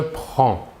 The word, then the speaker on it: prends: il/elle où on prend voyons ici que la prononciation est la même pour les trois premières personnes le s final des deux premières personnes ne se prononceront pas mais s'écrivent passons maintenant aux trois